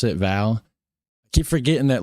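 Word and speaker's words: Waal: valley have a noticeable role in West Val River. That's how you pronounce it. Val.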